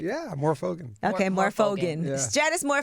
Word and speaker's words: Morfogen: is here with me and Stratus I've never pronounced your last name is that right yeah I'm more fogen okay more fogen Janice more fogan is here